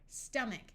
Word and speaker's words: stomach: stick in e there stomach note that in this word the O sounds like a short U character a r says